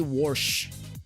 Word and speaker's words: wash: no reason it's we we pronounce it with like w-o-r-s-c-h we say warsh let me go wash